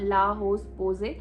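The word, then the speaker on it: La Roche-Posay: তো এটা যেহেতু একটা ফ্রেঞ্চ সানস্ক্রিন, তাই এটার প্রোনাউন্সিয়েশনটা আমি মেবি ঠিকই বললাম, লা হোস পোজে, কিন্তু এখানে দেখে মনে হবে লেখা আছে লা রোচে, বাট প্রোনাউন্সিয়েশনটা এইভাবে হয়। মেবি আমি ঠিকই প্রোনাউন্স করেছি।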